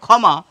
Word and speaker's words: ক্ষমা: গুরুত্বপূর্ণ কথা এসে যায় যেহেতু এই শব্দটির উচ্চারণ হচ্ছে খ এর মতো আমরা বলি ক্ষমা তাহলে এটি লিখলেই তো